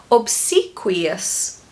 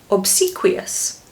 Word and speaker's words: obsequious: Pronunciation is quite specific. It has these 2 funny sounds in the word. Sequi. Sequi. Obsequious. Obsequious.